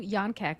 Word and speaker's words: Jan: so it's j an it looks like Jan but it's pronounced Yan K C so shout out check out Yan he through him I